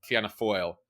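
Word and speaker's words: Fianna Fáil: pronounce them different so I'm going with the official RTE that is the national broadcaster of irelands pronunciation so there are two Center rightish parties uh Fina gaale and fana foil who have really dominated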